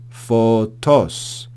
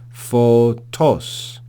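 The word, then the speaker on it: φωτός: marturese Peri 2 for toss for TOS notice the acute accent for toss Hina pantes pistel so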